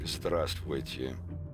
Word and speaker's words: здравствуйте: Yeah, it's like здравствуйте is, you know, there's a couple extra letters in there, but you don't pronounce them now. Yeah. So it's like здравствуйте, and there's a couple others that are like that.